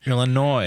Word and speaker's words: Illinois: Illinois.